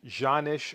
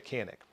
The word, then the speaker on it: Canik: not pronouncing canik properly in the turkish language it's pronounced zhanish or something like that but i don't speak